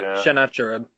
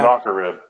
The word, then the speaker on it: Sennacherib: I can never pronounce his name right. Sennacherib. Yeah. Sennacherib.